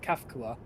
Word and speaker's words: Kafka: From them saying Kafka.